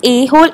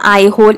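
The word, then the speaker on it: Aihole: next हमारा जो last question है दैट इज एहोल इंक्रिप्शन या आई होल इसको प्रोनाउंस करते हैं ऑफ पुलक शन टू मेंशंस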